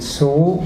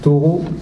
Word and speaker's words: Thoreau: Alors, je vais vous donc vous parler de David Soro ou Taureau. Je vous expliquerai qu'on peut prononcer des deux façons puisque c'est un à l'origine, c'est un patronyme français.